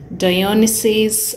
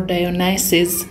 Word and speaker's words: Dionysus: bugs it's the gucci dionysius or dionysus depends on how you want to pronounce it and in case you're